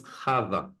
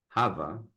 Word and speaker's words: Hava: to pronounce this world her name was Kava and what it means in Hebrew Hava what it means in